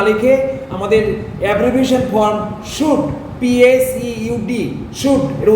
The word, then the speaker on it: PSEUD: Synonym, এই synonym কথাটা পুরো না লিখে আমাদের abbreviation form should, PSEUD, should, এর উচ্চারণটা শুড হবে।